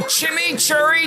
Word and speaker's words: chimichurri: Come meet Wendy's new Chimichurri Cheeseburger with our new Dave's Craft Lemonade.